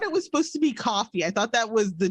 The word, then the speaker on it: Ko-fi: I'm not even sure how the hell that's pronounced. I say coffee, but I have heard people say Ko-fi, but I don't know. Like, I thought it was supposed to be coffee.